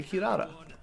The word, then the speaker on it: Kirara: Sushi Daddy, how do you pronounce Kirara? I say Kirara.